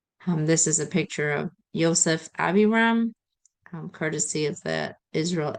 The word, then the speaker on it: Yosef: Today I'll be presenting my prominent person, whose name is Joseph Aviram, who preferred to say pronounced Yosef, not Joseph Aviram.